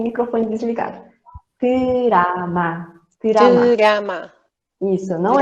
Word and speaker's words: drama: Então, quando sai um drama, Não é dorama, é drama. Mais uma vez, todo mundo repetindo. Pode até estar com o microfone desligado. Drama, drama.